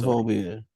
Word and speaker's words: Gynophobia: You dropped, is it pronounced genophobia? Yeah, I think so. Gynophobia.